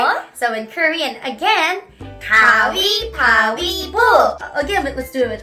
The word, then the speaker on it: 가위바위보: 가위바위보. So, we sounds more like E instead, is that right?